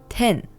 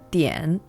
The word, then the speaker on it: 点: In Japanese, this is pronounced ten. In Chinese, it's pronounced dian.